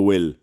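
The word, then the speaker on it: bhfuil: how B H how things like will go will sounds is a W sound but it's spelled like go will that's that phonetically that's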